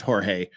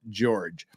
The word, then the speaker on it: Jorge: George is not pronounced Jorge uh it it's spelled Jorge but he himself calls himself George Sarah calls himself George